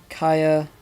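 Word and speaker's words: Kya: Pronounced Kaya, it is a PS2 3D platformer with an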